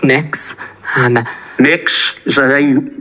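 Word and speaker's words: Mx: Cameron tell me what you're you're proposing it's pronounced mix um mix is how would you like me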